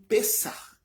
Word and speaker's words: Pessach: Ela tem origem no Pessach hebraico. Se escreve P-E-S-A-C-H e se lê Pessach, né? Faz um com o CH se faz um no final. Pessach.